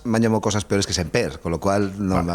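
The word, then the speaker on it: Sémper: Es eh Borja Semper con acento en la Elana o Borja Semper aguda. Me alegro que me hagas esa pregunta siempre que se decí esta frase es Borja Semper. Semper. De todas formas me hallo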